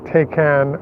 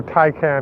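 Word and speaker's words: Taycan: the new rron as well as uh the takan or tyan as it's pronounced would not be able to supercharge and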